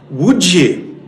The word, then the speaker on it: Łódź: He said, "It is pronounced, of course, Łódź."